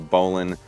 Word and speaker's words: bowline: And I'll just tie a bowline on here. Yes, it's pronounced bowline, not bowline, Josh.